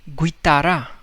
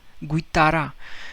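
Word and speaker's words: guitarra: now normally uh this uh word you would pronounce it as guitara right you would pronounce u guitara but no the rule says that whenever g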